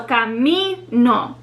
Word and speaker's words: camino: So for example, the word camino, which means path, it ends in a vowel, the letter O. So camino. We see the second to last syllable is the one that's stressed. Camino.